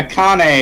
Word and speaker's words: Akane: Okay, Akane is the pronunciation of the one you're looking at. Yeah, but I was pronouncing it like it was a Caribbean name.